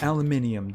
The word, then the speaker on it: aluminium: Or aluminium, depending on how you like to pronounce that.